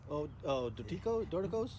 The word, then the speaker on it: Dorticos: My number 1, I still can't pronounce the name. Say it again for me. Dorticos?